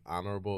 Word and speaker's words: honorable: Nigerians have like a really big problem with like silent letters. Okay. So like we can't say like honorable. It's like honor.